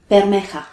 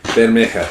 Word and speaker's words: Bermeja: How do you pronounce it? Bermeja. Bermeja, yes, and it is considered important on the